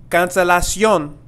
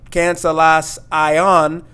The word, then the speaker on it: Cancelación: And if you have noticed, this I-O-N ending of these Spanish words have this ion sound. Ion, and not ion. So it's not cancelas ion, but it's cancelación. Sion.